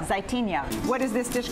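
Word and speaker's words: Zaytinya: Okay, we call it Zaitinia. Zaitinia.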